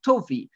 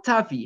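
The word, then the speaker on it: טבי: by the name of toi or Tavi however we're reading the name according to the pronunciation the ashkanazi pronunciation the Sadi pronunciation Tavi referring to toi to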